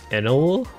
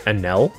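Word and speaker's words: Enel: weevil yeah weevil pass I notice a lot of people say anel but it's it's enl right I didn't watch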